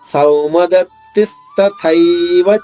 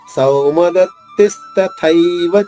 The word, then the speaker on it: సౌమదత్తిస్తథైవ: సౌ దీర్ఘాక్షరం, దత్తి తి ద్విత్వాక్షరం కాబట్టి దాని ముందు ఆఘాతం ఉండదు. తీ పైన అంటే 2వ తీ పైన ఆఘాతం తీసుకుంటూ స్థాలోని సా ద్విత్వం చేసుకుంటూ దాని తర్వాత ఉన్నది మహాప్రాణి, పొట్టలో చుక్కుంది కాబట్టి తాత్తాల్లో 2వ థ నొక్కి చెప్పాలి.